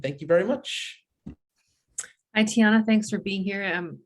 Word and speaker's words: Tiuana: So our guest now is Tiuana, and Tiuana is the president, founder, agent of the Agency. So welcome, Tiuana. Thank you for being here. Thanks. It's pronounced Tiana. Tiana, I'm sorry, Tiana.